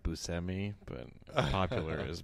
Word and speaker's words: Buscemi: do you guys know no yeah it's actually pronounced busami but popular is Buscemi so I'm just going with that because I